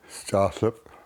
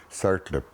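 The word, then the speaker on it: Tsartlip: So the name of this place here is Staaslip, and that's the First Nations way of pronouncing it, and the English way is Sartlip, because they couldn't pronounce our language in the olden days when they arrived here.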